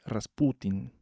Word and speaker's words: Rasputin: A este señor Papú lo va a reemplazar un místico siberiano, el famosísimo Grigori Rasputin con acento en la U.